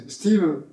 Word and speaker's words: Stivell: for example, is that everybody everywhere say in English would say Stivell, Alan Stivell, which is Stivell. Not in genetic, but in my region it's Stivell. It's not Stivell.